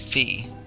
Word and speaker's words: Fi: name right now I I'm so used to calling her fi but I know everyone pronounces it fee it's it'll be it'll be fee I'll call her fee I'll get accustomed at